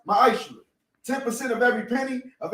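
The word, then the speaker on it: מעשר: Means tenth in Hebrew, and is pronounced ma'ashra.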